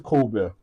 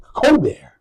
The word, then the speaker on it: Ceauxbehr: So we call it Ceauxbehr. Straight up. Yeah. And we pronounce it French.